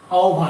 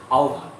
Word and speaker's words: আহ্বান: ডাক, যদি তোর ডাক শুনে কেউ না আসে, ডাক, আহ্বান, আহ্বান উচ্চারণটা কিন্তু আহ্বান, এটা খেয়াল রাখতে হবে। আমরা হর ব লিখি, হয়ে যায় ও এর মতো, আহ্বান, আহ্বান নয়, উচ্চারণটা হবে আহ্বান।